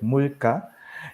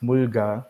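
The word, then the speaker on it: 물가: Korean classes with Mambe, we learned this word like mulka, and Mm. I thought in my head it would be pronounced mulga, but I was so shocked, Mm.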